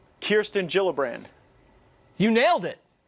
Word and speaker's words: Gillibrand: All right, so Kirsten Gillibrand, not Gillibrand. It's a soft G.